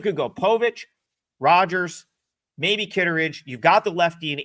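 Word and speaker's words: Kittredge: So he pronounces his name Kitteridge.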